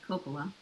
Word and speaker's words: Coppola: Is your last name pronounced Coppola? Yes, it is Coppola.